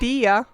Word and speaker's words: Dea: Dia. It's not Dea, it's Dia.